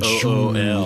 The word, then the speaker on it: Jewel: You have to pronounce it Jool.